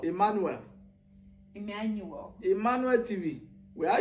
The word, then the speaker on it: Emmanuel: So how would you say Emmanuel? Emmanuel.